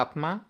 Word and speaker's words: আত্মা: তারপর আমরা উচ্চারণ করি না আত্মা। আত্মা আত্মা আত্মাও বলি আত্মাও বলি। তাহলে দেখেন বিষয়টা কি? বিষয়টা হচ্ছে এই ম ফলা এবং ব ফলা এই দুইটাই কিন্তু উচ্চারণ হয় না।